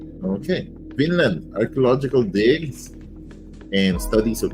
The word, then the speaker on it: Vinland: whom she followed in Finland I think this is Finland just pronounce with the